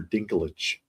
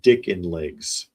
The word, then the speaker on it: Dinklage: And I saw one actually the other day talking about Peter Dinklage, the actor, and the AI could not say his name. And it was calling him Peter Dickin Legs.